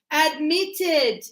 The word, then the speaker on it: admitted: Admitted. Yes, double T because you go admit. Meet, the stress is on the last sound, so you say admitted.